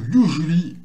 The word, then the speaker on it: usually: Alors, ici, là, en fait, quand vous allez prononcer ce mot-là dans le texte, l'accent tonique qui est là, donc le U, normalement, vous prononcez de manière plus forte que le reste. L'intonation de la voix, elle est là. Mais bon, mis à part ça, là, ça se prononce you. Et là, vous allez prononcer jouo. Jouo. Donc, S-U-A, ça donne le son jouo. Et à la fin, li.